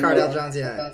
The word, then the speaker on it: Cardale Jones: I mean, Cardale Jones, is that how you say his name? Yeah, Cardale Jones, yeah.